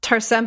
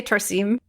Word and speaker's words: Tarsem: By the way, I've heard his name pronounced Tarsen, but also I heard him say Tarsim.